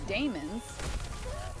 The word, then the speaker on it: daemons: Which is part of the reason I tend to say daemons instead of demons, because I want to pronounce that A. The A-E specifically.